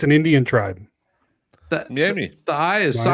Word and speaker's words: Miami: In Oklahoma, it's Miami. Miami. Miami. That's Miami. not. It's not an A. No. It's an I. Well, it's an Indian tribe. Miami.